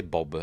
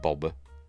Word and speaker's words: Boba: on one of the most yes I say Boba I don't say Bob if you listen if you watch Star Wars when he's first introduced I think it's it's pronounced Boba anyway whatever most like Leah is pronounced Leah